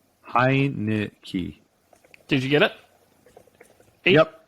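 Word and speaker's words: Heinicke: who backs him up heineke heineke heineke high knit key did you get it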